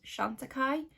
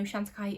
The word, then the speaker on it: Chantecaille: we have some new products from the brand chantikai which i was pronouncing wrong for the longest time the reason i clicked into this was because of the gorgeous packaging but i know shantikai is a really expensive brand so these wouldn't